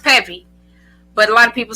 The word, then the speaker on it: Peavy: peave you can go there or it's Peevy it's pronounced pevy but a lot of people say but it's Peevy so it's pevy but um you can